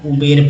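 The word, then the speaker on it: Uber: अब ऊबर पढ़ेंगे इसे या ऊबर पढ़ेंगे या उबेर पढ़ेंगे, ये बताइए। दोनों सही है, लेकिन एक्चुअल उच्चारण जो है, जो पढ़े लिखे लोग होते हैं वो ऊबर पढ़ते हैं।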